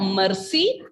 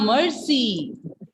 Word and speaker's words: merci: So pronunciation is not mercy. R will not be pronounced like that. Mercy. R sound is coming there. Mercy. Oui, ça va bien, merci.